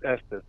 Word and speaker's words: Estes: Is it pronounced Epps or Est? You know, it's Estes.